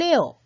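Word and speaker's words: 二: 옷까지 발음 해주셔야 되겠죠 그래서 이익 ooo 을 에어 라고 발음을 해야 맞는 발음입니다 원어민 선생님의 발음을 잘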